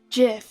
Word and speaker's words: GIF: it looks Jeff and if the inventor himself says it Jif even though G stands